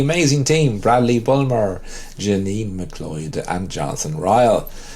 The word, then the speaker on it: McLeod: L e o d McLeod yes so you have to put the emphasis on the island McLeod yeah I'm with Ronan that I think the actual pronunciation is is McLeod yeah it's not in